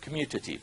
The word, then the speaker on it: commutative: the same answer okay we just pronounce it commutative like you're going to commute between here and San Francisco or here in Oakland